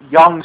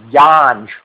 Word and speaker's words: Yonge: It's called Yonge Street, okay? But it's spelled Yonge, okay? It's supposedly the longest street in the world, okay? Mhm. Now, because it's spelled that way, I kept saying Yanj. We're going to Yanj Street.